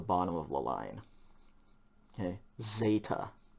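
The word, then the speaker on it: ζῆτα: of the line okay zeta like like the english zebra okay again we'll start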